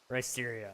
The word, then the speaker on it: Risterio: Really, Risterio? I I just I I figured it was kind of like uh Mysterio and Ryan probably and so I just assumed that that was how you wanted it pronounced.